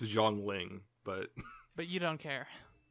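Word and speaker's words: Zhongli: but jangling and yes i know i'm horrifically mispronouncing her name i don't care i know it's zhong ling but but you don't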